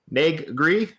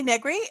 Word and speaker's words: Negri: podcast we have us have with us nree NE gree and so uh introduce yourself uh my name is negri um good pronunciation um I live in Hollywood Los Angeles